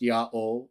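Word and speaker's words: Ιαω: And we see people like Jerome, right, spelling out the Tetragrammaton and saying it's pronounced Yah-O, and all kinds of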